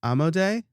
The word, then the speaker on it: Amodei: And to further that point, the CEO of Anthropic, who makes Claude, Dario Amodei, I think is how it's pronounced.